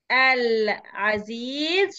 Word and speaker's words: العزيز: العزيز شمسية ولا قمرية؟ قمرية. قمرية مين قال شمسية؟ مش أنا. مين قال شمسية؟ ده أنا بقول اللام دي ما جاتش في ودنك. قمرية بننطق اللام.